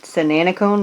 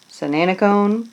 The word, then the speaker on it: Sananacone: And in case you forgot, Sananacone rhymes with banana cone. Sananacone, banana cone.